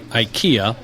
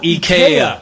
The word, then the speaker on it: Ikea: thing as for example Americans say Ikea but every we were just having that disc everyone else in the world says EK we were just talking